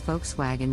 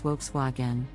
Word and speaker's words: Volkswagen: The correct pronunciation is Volkswagen with the emphasis on the first syllable. Many people mispronounce it as Volkswagen.